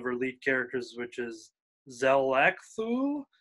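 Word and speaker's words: X'lakthu: lead characters which is zelekthu is maybe how you uh pronounce it it's x apostrophe l-a-k-t-h-u-l zel axual is how the pronunciation is written um she's the caseworker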